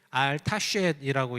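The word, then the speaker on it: 알다스헷: 이 알다스엣, 알타쉣이라고 읽는데 알이라는 말은 don't do it, 하지 마 이런 말이에요.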